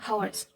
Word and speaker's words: hour: Kalau and itu elephant, orange, announcement, umbrella, hours.